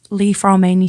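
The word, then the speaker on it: Li-Fraumeni: previously but yeah um and you work on Leaf ran Syndrome have I said that right you certainly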